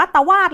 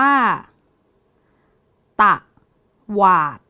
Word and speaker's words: ตวาด: อ่าน ว่า อะไร น้อ อ่าน ว่า ตะวาด หรรือ เปล่า น้อ ไม่ ใช่ นะ คะ เด็ก ๆ คำ นี้ อ่าน ว่า ตะ หวาด ต ว อา ตวาด